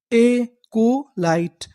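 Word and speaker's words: acolyte: क्योंकि आखिरी में लिखा है ई, ई का हमें उच्चारण नहीं करना। तो पूरी मीनिंग क्या बनी? एकोलाइट।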